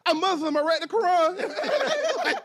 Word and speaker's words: Quran: It's Quran. Quran. All right, so Quran, like the Muslim Bible? It is pronounced that way.